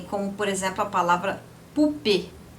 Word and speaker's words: poupée: Então, você tem, como por exemplo, a palavra poupée. Poupée tem um accent aigu. Du coup, a palavra, você pronuncia o E no final, porque tem o acento.